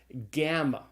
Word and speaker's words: gamma: is where we have the G sound is called a gamma and the gamma is pronounced generally with the hard G some like in the English word gone now there's a special